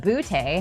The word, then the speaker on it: Booty: Booty. And then, yes, we have Keyshawn Booty. You were telling me this is exactly how you say it, emphasis on the boo.